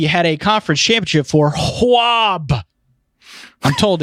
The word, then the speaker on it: UAB: And finally, we had a conference championship for Hwab. I'm told it's pronounced Hwab. Hwab? UAB.